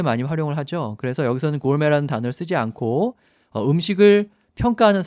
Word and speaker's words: gourmet: 제가 앞에서 설명드린 것처럼 이렇게 ET로 끝나는 영어 아닌 다른 나라 말에서 온 단어들은 발음할 때 끝에를 A 이렇게 발음한다고 했죠. 그래서 gourmet, 구르메라고 하지 마시고 gourmet라고 발음을 하셔야 합니다.